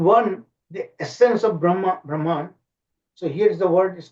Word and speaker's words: Brahman: Brahman. So here's the word is called Brahman. I'm using the the western way of pronunciation.